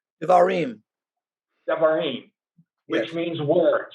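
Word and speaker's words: דברים: So that's what we get into here as we come next to the next section of, am I pronouncing this right, Don? Devarim? Devarim.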